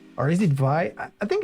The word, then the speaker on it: Vay: So all in all, a very good logo for Vey. Or is it Vi? I think it's Vey because it's a German company. I think it's like when a German pronounce way, Vey.